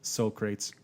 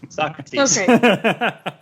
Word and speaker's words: Socrates: Billy the Kid and Soul Crates? Is that how you pronounce it? Socrates.